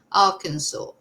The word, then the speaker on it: Arkansas: At least I'm pronouncing it right now. Arkansas.